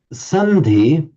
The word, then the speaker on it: sandhi: Sandhi, it's the same di as in samadhi, and these words like that.